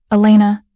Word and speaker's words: Elena: "Elena," he repeats, pronouncing it correctly, with the emphasis on the second syllable.